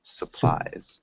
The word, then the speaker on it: supplies: nice really good pronunciation the only thing was that short you and supplies supplies supplies okay um you're really close it's more of like a sa instead of a sue so it sounds like